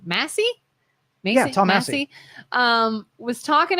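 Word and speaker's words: Massie: Massey?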